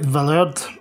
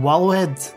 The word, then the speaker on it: Valhalla: likely have noticed that i'm pronouncing it villard rather than walla head as it appears phonetically in the english translation of the website the first three letters w-a-l as the old english or old saxon equivalent of the norse v-a-l and all are pronounced val given the medieval fantasy